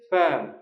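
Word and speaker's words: firm: খামার আর এটা হচ্ছে ফ্যাম। উচ্চারণটা খেয়াল করুন। ব্যবসা প্রতিষ্ঠান যেটা সেটার উচ্চারণ হল ফ্যাম।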